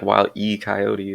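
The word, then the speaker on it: Wile E. Coyote: coyote I should say I mean that's how it's spelled in like uh the show it's just like while E coyote it's like there's no why there people think there's a y there I looked it up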